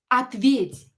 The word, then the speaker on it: ответь: So, as you can see here, the stress is on the last vowel.